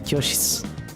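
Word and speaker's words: 教室: we actually learned that shitsu, kyoshitsu, is just pronounced kyoshitsu.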